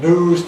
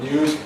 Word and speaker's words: news: Like Londoners, Americans drop yod after N. So they say news typically rather than news. It's variable in American English. There are a few people who say news, but most Americans say news.